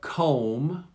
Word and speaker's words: comb: This is the silent B, and notice they come after the M. So we have comb, You comb your hair.